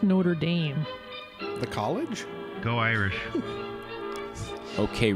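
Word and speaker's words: Notre-Dame: It's pronounced Notre Dame.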